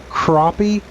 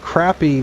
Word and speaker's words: crappie: If they say crappie, you can tell they live south of the Mason Dixon line. If they call it crappy, they live north of the Mason Dixon line.